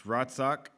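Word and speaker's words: רצח: The word that's actually used is a word, I'm not going to pronounce it right, but you won't know the difference. It's ratzak. You probably are supposed to conjure up some phlegm when you say it, but, whatever.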